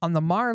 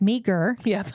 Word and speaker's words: Meagher: Real quick, I wanted to address, we said Mar because we know how to say it, but it will look like meager to you. Thank you. It's Meagher. Mar, named for Thomas Mar, who was influential in Montana's history.